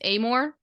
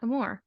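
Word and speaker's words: Amoore: It's Amore, Georgia Amore, not Amore.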